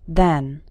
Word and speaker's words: than: In spoken English, than spelled with an A and then spelled with an E often sound exactly the same when speaking fast. Listen to these two example sentences. I'm older than my brother. First we went to the store and then we went to the post office. Both words are simply pronounced then.